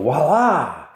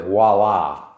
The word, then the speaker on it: voila: I've heard it in advertisements where somebody does something wonderful and they go, voila, look at that. No such word as voila. It's voila.